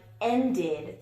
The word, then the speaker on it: ended: So it can sound like id in a word like ended. The movie ended. You would write it like this, but it sounds like id.